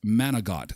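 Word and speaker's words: manicotti: a cup Derek says I made a killer manicot it's pronounced managot stuffed with cream cheese and moah topped with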